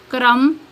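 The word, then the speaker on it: crumb: पर एम के बाद आए फॉर एग्जांपल क्लाइम क्रम डम कॉम नेक्स्ट है silent C सी इज not pronounced C pronounce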